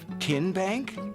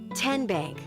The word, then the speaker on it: TN Bank: this 30 second timeout how do you say the name TN Bank nope tin bank uh-uh so what is it 10 Bank 10 as in Tennessee right here where all